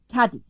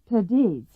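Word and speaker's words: Cádiz: They can't pronounce the Spanish th. I want them to say Cadiz. They insist on Cadiz.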